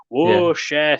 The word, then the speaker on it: Worcestershire: You have to say it like Donkey from Shrek. Whoa, Shire. That sounds fancy.